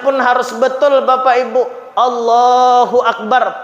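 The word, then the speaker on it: الله أكبر: harus betul Bapak Ibu Allahu akbar pakai Alif pakai Hamzah jangan jadi wau Allahu akbar ah salah ya maka anak-anak kita nih kita Ajari kita perhatikan kita awasi Bacanya apa Allahu Akbar Akbar jangan wakbar dan juga bnya jangan panjang nantiaja panjang salah Allahu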